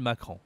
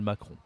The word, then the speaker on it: Macron: bien sûr Emmanuel Macron attention ici à la prononciation c'est pas facile Emmanuel Macron Macron ici tu vois on utilise le nez pour prononcer le nom du Président de la République Macron ce n'est pas Macron hein mais c'est bien Macron on verra une prochaine